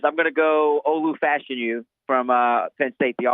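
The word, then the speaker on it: Fashanu: Oregon state but I I'll go with Olu fashion you because I've just been stuck on his name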